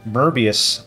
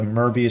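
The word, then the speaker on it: Möbius: plotting that uh as a merbius band I hope I'm pronouncing that right because it's German uh merbius strip which is Mobius strip I I know it looks Mobius but the the O has uh the um lot so I think it's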